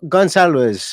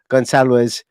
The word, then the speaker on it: Gonçalves: to conference his name Pedro Gonzalez is how I think you're supposed to pronounce it in Portuguese if anybody wants to